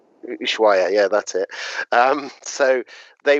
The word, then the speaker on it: Ushuaia: are Rio Grande and, forgive me if I pronounce this wrong, Ushuaia. Ushuaia, yeah, that's it.